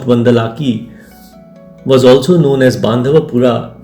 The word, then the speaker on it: Bandalike: Bandalik pronounced Bandalaki was also known as Bandhavapura is a village located in the Shikaripura Taluk of Shimoga around 17 kilometers from Balikawi.